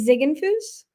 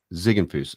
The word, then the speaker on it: Ziegenfus: morning thank you for having me absolutely so pronounce your last name for me it's zigg Fus zigg Fus okay uh I didn't ask you that beforehand